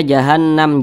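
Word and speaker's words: جهنم: Nah, cara membacanya itu digunnahkan tuh didengungkan. Jadi suaranya itu kita tahan, kita panjangkan sejenak. Jahannam begitu. Jahannam.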